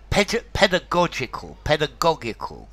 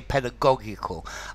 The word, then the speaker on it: pedagogical: Pedagogical. I think I would personally say pedagogical, although I hear the Americans saying pedagogical.